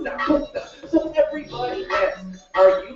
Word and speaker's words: dåko'ta: I revive the sounds while my name pronounced dåko'ta.